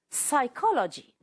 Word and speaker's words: psychology: Next word, psychology. The P is silent.